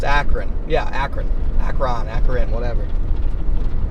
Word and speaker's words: Akron: In Ohio, it's Akron.